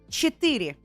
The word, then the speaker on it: четыре: Четыре. Четыре. Like ethereal? Oh, that's good. Yeah, kind of like ethereal.